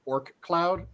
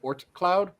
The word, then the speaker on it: Oort cloud: yo so there's a thing that is commonly mispronounced as orc cloud it's the oort cloud they sound almost identical one's a t one's